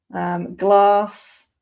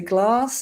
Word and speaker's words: glass: Glass, where I'm from, I say glass. In the north, they'd say glass. So glass or glass.